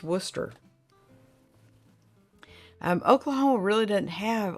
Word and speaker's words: Worcester: one of my favorites it is not spelled the way it sounds at all it's spelled like wer who wood wood Woodchester or something like that I was informed it's pronounced Worcester um Oklahoma really doesn't